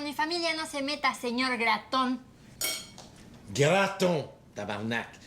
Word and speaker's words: Gratton: e famili ta seigneur graton graton tabarnac graton comme dans toton comme dans immigration ça fait 6 mois